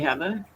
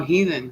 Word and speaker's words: Heather: calls I'm either a heater or a heathen I'm like hi you don't pronounce my first name like that it's weather with an H uh do you get